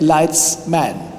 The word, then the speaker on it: Leitzmann: And the connection is that many Englishspeaking people have difficulties pronouncing my name. And then I tell them, why don't you use the plural of light? Light lights. And then you have lights man. Yes. So that's easy to remember.